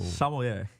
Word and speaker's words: sommelier: Sommelier. I always Sommelier.